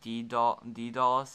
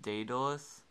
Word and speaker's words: Daedalus: know um i am aware that it's not pronounced d d dolls it's actually pronounced daedalus like because that's how they pronounced in the